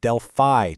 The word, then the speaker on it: Delphi: And by the way, it's pronounced Delphi Technique.